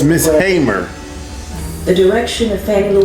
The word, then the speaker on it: Hamer: And she had been trying all I said Hamer. It's Miss Hamer. The direction of Fannie Lou Hamer's said her last name wrong.